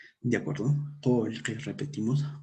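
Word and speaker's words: qullqi: Entonces, decíamos que en la forma oral va a haber, se va a pronunciar con E o con O.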